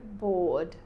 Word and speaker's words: bored: Bored. You go straight from the R to the D.